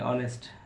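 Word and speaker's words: honest: कब साड होता है ओ से पहले एच आता है एच को पढ़ा नहीं जाता है जैसे एच ओ एन ओ यू are honour H ओ एन ई एस टी ऑनेस्ट एच ओ यू आर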